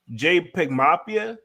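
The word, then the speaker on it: JPEGMAFIA: I don't even know how to pronounce it. It's JPEGMAFI. So JPEG Mafia.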